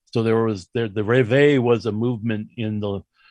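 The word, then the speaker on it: Réveil: looks like reveal but it's french so i believe that you don't pronounce the l and that's just simply revival so there was there the revere was a movement in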